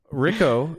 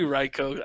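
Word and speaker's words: Rhyko: It's supposed to be Ryko. I put the H there, like Rhino. People get it, and no one does. I'm sorry. Ryko, where are you calling from?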